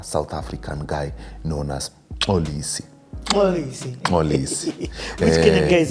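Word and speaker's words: Mxolisi: It's not Molisi, it's Olisi. I can pronounce his name, but it's going to be funny for our community here. Our community is international, bro. Yeah, Molisi is M-XOLISO. So the X is, yes.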